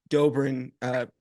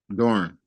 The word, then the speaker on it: Doeren: year is really just devoted to understanding what Dobrin. I'm so sorry. Did I pronounce it right? Doeren.